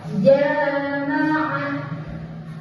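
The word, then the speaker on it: جماعة: Panjangnya bacanya 2 harokat. Jama'ah, jama'ah, jama'ah. 2 harokat.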